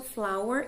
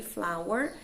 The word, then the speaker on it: flour: Então, vejam aí que a pronúncia é a mesma, flour e flower, mas a escrita realmente é bem diferente e os significados também.